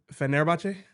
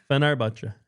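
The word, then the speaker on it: Fenerbahçe: Turkish pronunciation. You did well yesterday. Fenerbahce? Fenerbahce.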